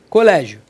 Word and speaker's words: colégio: A palavra é paroxítona. Por quê? Porque a penúltima sílaba é tônica. E por que que ela é acentuada? Porque paroxítona é terminado em ditongo. Você acentua que nem órgãos. Agora cuidado, hein? Co lé ji o.